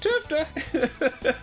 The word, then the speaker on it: TFTA: It's pronounced Tufta.